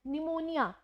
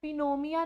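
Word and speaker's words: pneumonia: Like P के बाद N, निमोनिया, निमोनिया को हम निमोनिया पढ़ते हैं, पिनोमिया नहीं पढ़ते हैं।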